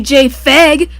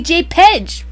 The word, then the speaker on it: JPEG: The P in It's JPEG not pronounced- stands for photographic, but I bet you don't say JFEG. P on its own doesn't sound like F.